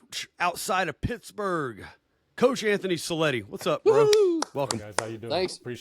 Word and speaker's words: Cellitti: Well, without further ado, we're happy to bring on our guest, uh, strength condition outside of Pittsburgh, Coach Anthony Cleti.